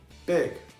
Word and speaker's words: big: A palavra big não tem o i, mas nós falamos big.